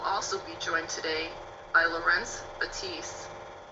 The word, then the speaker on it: Laurence: Mine is the French pronunciation, Leuren, and his is the Dutch pronunciation, Laurence.